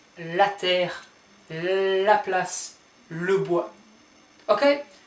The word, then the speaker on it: terre: Then we have terre, terre. Don't pronounce that, so it's not terrain, it's terre.